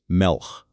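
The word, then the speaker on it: מֶלֶךְ: It's a small word, one syllable when you say it, melch.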